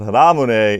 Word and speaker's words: Ramune: So the very first thing you should know about Ramune is that's the way it's pronounced.